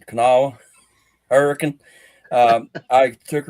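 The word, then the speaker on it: Kanawha: It's Canawa.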